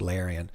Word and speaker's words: Larian: That's pronounced Larian.